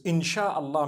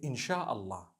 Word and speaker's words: In shaa Allah: No it doesn't because inshallah means if Allah wills. Inshallah. We all say it together inshallah. Inshallah. But we know in the Arabic it's three separate words.